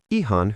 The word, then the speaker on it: ihan: Teacher: To answer "Fine" or "Quite good," we say Ihan hyvää. Mnemonic: "I-hand over the good news."